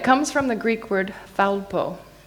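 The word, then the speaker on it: θάλπω: And it comes from the Greek word thalpo.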